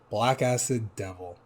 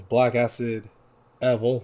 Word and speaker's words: Blackacidevil: hear on spotify called black acid devil or black acid level depends on how you want to pronounce it because if you look at the title it says black acid evil there's no d no